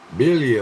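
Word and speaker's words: birria: Billy, what? You trying to speak Mexican there, Arizona? You said you spelled billet. What is billet? Billy. It's It's with an R, but you don't pronounce the R.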